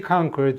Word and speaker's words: conquer: Yet it can be conquered very easily. 그러나 그것은 쉽게 정복될 수가 있습니다. conquer. 예, 이건 이제 U 발음 안 쳐. conquer가 아니고 conquer. conqueror, conquest.